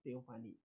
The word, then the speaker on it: teofani: Kata fani itu, fani itu tulisannya PH, tapi bacanya F. Fani, teofani.